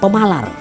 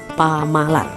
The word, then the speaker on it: pemalar: Berikutnya di Banjar Kuala itu disebut pemalar. Tapi kalau Banjar Hulu tidak mengenal E-nya jadi A, jadi pamalar.